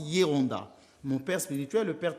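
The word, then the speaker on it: Geronda: On écrit avec un G. On prononce Yonda.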